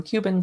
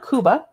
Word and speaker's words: Cuba: recipes and secrets from Cuban paladares and they're chefs and I could pronounce it Kuba but I'm American and we say Cuba so no offense award-winning